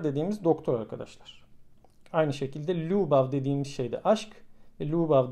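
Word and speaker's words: ljubav: Aynı şekilde lubav dediğimiz şey de aşk.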